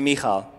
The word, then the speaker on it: Michal: That's how you pronounce it. Everybody say me. All. Now say Michal.